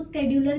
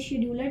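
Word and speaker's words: scheduler: शेड्यूलर जो है मेरा, इसको स्केड्यूलर भी बोलते हैं, बट my pronunciation is शेड्यूलर, तो अगर आप स्केड्यूलर बोलते हैं इट्स अप टू यू।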